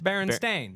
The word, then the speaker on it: Berenstain: if you were to read it phonetically, it's Berenstain. Berenstain. But no one has ever said Berenstein.